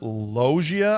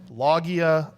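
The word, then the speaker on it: Loggia: Robert Loia I think is how you say it. I've never can I've never really heard it. Logia I don't think I think it's Loia.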